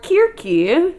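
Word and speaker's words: Κίρκη: So Circe, or KIRKE, as you would pronounce it in ancient Greek, is true divine royalty.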